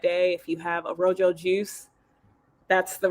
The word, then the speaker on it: rōJō: And for the audience, that's rōJō. Correct. It looks like it's pronounced rojo, but the name rōJō came from my name.